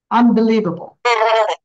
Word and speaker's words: unbelievable: So unbelievable, এখানে believe, live জোর হবে, unbelievable.